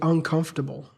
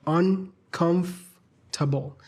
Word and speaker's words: uncomfortable: How to properly say uncomfortable? Just like that. Uncomfortable. Like the R is silent.